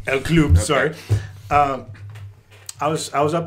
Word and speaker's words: El Club: It's pronounced El Club. El Club, okay.